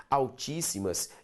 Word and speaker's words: altíssimas: Altíssimas. Altis. Lembra de separar isso aqui. Simas. Sílaba tônica, tá aqui, proparoxítona devidamente acentuada.